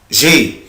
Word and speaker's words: j'ai: أحفظهم هو كده avoir j'ai بس كده اسمها j'ai. في ناس بتنطقها جو اي، طبعا غلط جدا، مفيش حاجة اسمها جو اي. أنا الأبوستروف ده ولا يكون موجود، أنا بنطق الفيرب على بعضه.